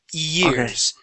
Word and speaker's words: years: Years, okay? So years. Do not think of a Y sound. Start off with an E, okay?